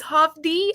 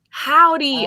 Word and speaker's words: Hovvdy: that's bilingual this is hof d uh am i pronouncing it right or how would you guys pronounce it uh oh pronounce like the greeting howdy howdy okay okay you're reading